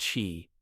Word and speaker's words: qi: In Chinese medicine, one of the oldest and most influential systems of thought about energy, the concept of qi, pronounced qi, is fundamental.